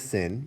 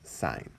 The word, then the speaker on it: sine: and we say sign its abbreviation is just the first three letters that's i am but we do not read that as sin we read that as sign okay the second one